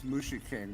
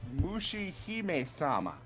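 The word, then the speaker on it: Mushihimesama: I want to say it's Mushi King, but I might be mispronouncing it. Hold up. Oh, well, of course. It's not Mushi, it's Mushi Hime Sama.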